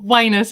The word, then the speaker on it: Wyness: I just realized I never checked you the pronunciation of your surname have I got that right yeah well wus is wi W yeah oh that's very apt